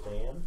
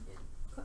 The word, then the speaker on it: Thann: So Waterdeep House Dan? Yeah, Thann.